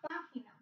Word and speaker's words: página: Page is la página. La página. If I say, like, turn to page 3, vea la página 2, 3. Página, con acento en la primera A.